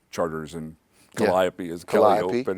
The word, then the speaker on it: Chartres: riot you know yep Chartres is charters and Calliope is colliding